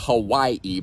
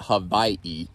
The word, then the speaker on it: Hawaii: trip to Hawaii, then, which is how it's pronounced, by the way, not Hawaii, but Hawaii. Anyway, doesn't matter.